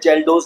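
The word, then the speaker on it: Kjeldahl: एक साथ बोलते हैं जेलस नाइट्रोजन। याद रखिएगा free ammonia plus organic ammonia दोनों को एक साथ बोलते हैं जेलस nitrogen. जेलस nitrogen जेलस की स्पेलिंग अगर लिखूं के साइलेंट रहता है इसमें जेलस जेलस नाइट्रोजन।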